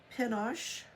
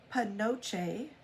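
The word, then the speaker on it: penoche: And I looked that up, and indeed, it is sometimes pronounced pinoche or panoche, but a more common spelling that we use today is, instead of an O, it's a U.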